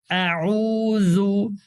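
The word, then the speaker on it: أعوذ: আউু আউু খেয়াল করেন শুরুতে হামজার উচ্চারণটা একটু শক্ত করব আইনের উচ্চারণটা গলায় চাপ দিব জলের উচ্চারণটা নরম করব তো কোরআন শিক্ষার এরকম ছোট ছোট ভিডিও পেতে আমার এই চ্যানেলটি সাবস্ক্রাইব করে রাখেন।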